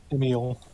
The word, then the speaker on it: Emil: But as you open the door, How's this pronounced? Emil or Emil? Emil. Okay, Emil. Oof.